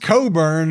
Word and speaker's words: Cockburn: If it's pronounced cobburn, then why is it spelled C O C K?